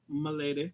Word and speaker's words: Milady: correctly yes she says my name is pronounced like how they dress royal women back in the day m'lady yes m'lady let's see